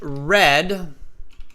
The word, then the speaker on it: read: Yesterday, I read is still spelled R-E-A-D, Gopu. It's not like the color red. It's just the pronunciation that changes, but the spelling stays the same.